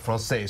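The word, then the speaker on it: Française: You told me I could pronounce it you one or two. You can say francaise. All right, francaise.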